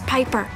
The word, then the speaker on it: Piper: The name's Piper. Rhymes with Viper.